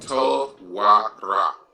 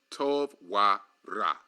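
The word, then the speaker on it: טוב ורע: is Tov Wa Ra. All right, that is how you say good and evil. Tov Wa Ra.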